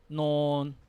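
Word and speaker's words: นอน: Now, again, nonu as the initial consonant and the final consonant both give you n sound. N. We have the same vowel, sala o, not sala o sound. Then non. Non.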